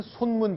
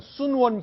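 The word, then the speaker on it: 孫文: 건 제 대만에 있는 손문 기념관 순원 기념관 중국식 발음으로는 그렇게 부르는데 이제 중국 신의 혁명을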